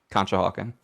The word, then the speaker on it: Conshohocken: That's how you say it, Conshohocken.